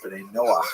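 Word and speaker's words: Bnei Noach: And this is basically a Hebrew term Benet Noah for or Ben Noah is the way Jews will pronounce it.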